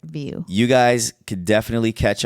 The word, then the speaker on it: Vieau: So that's how you say it, view.